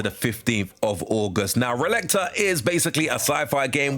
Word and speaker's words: Relicta: Next up, I do think it is pronounced Relicta, which will be available from the 16th of July to the 15th of August. Now, Relicta is basically a sci-fi